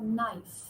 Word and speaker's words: knife: k you say KNE K is silent and then you have KN you have no you have knock you have knife right and now